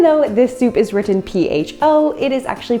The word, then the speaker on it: pho: So even though this soup is written P-H-O, it is actually pronounced pho.